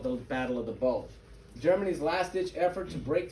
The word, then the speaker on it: Bulge: Okay, many students mispronounce this one. There is no D in this. It's not the Battle of the Bulge. Okay, it's Bulge.